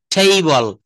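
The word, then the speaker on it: table: তারপর বলছে টেবিল বলবো না, টেইবল, টেইবল।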